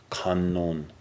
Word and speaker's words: Kannon: Kannon. That's one of the ways to pronounce the Chinese, the Japanese pronunciation of the Chinese.